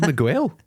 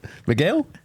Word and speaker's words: Miguel: he's 6'2 he's called mguel that's not even the right pronunciation is it Miguel Miguel Miguel yeah no